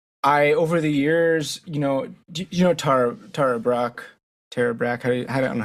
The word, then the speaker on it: Tara Brach: And over the years, you know Tara Brach, Tara Brach. I don't know how do you pronounce her name? Tara Brach.